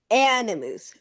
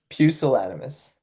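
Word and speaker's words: pusillanimous: Um, oh my pelimus. P. Okay. This one is pucilanimus.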